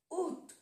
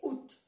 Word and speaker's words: août: No se pronuncia la A. También se puede decir U, le mois d'août. Pero es, se utiliza más, o se dice más, es más regiones, digamos, que se dice out.